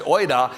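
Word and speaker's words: οἶδα: See, the word used here in the Greek is a word, it's pronounced oida, and it means if you understood.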